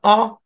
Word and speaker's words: a: যে আমরা বলি না এ বুক বলি কিনা এ বুক এ বুক একচুয়ালি এ বুক না অ বুক অ বুক এখানেও সো সাউন্ড দরকার নেই এ বুকই